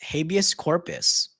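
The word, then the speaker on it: habeas corpus: in jail on ooh how do I pronounce this habus Corpus does that sound right nailed it that's correct uh they put a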